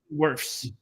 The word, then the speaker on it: Wirfs: How do you pronounce his name? Wirfs? W-I-R-S? Wirfs.